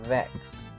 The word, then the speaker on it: Vex: Pronounced Vex, not Vetchus, by the way.